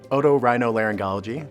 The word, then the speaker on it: otorhinolaryngology: patients with those problems otorhinolaryngology that's how it's pronounced it's a it's nine syllables it's a tough one it's just Latin for ear nose throat and so we deal